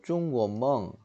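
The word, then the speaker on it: 中国梦: 중국몽이라고도 하고 중국 발음으로 중구원멍 혹은 우리말로 중국의 꿈 얘기입니다.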